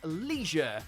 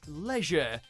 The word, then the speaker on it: leisure: national variations in America you'll almost always hear people say Leisure Leisure like it's got an extra e hidden somewhere while in the UK it's more like Leisure as if the I isn't there at all with both versions seem